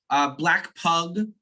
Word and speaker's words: Black Pug: Black Pug, P-U-G, pug like the dog, not bug. Black Pug, for those interested in the actual pronunciation and spelling.